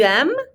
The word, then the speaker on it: aimes: So we're not going to pronounce the S on the end. Répétez. Tu aimes?